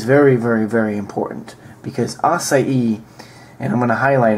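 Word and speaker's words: açaí: promoted recently which is acai and that's the correct pronunciation every now and then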